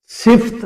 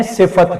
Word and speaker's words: صفت: میں کر رہا ہوں، اس کے اوپر زبر ہے، صفت نہیں ہے صفت ہے، تو اسے اس میں